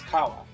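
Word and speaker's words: 川: Well, the word, for example, for river is kawa. But sometimes, to make it easier to pronounce, Gawa. when it's merged, you'll have gawa or sawa or different things like that.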